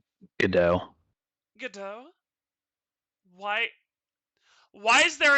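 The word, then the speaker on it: Godot: mouth sarus he's an idiot gdot's name isn't pronounced Gat then how is it pronounced Jin how's it pronounced gdau gdau why why is there a te in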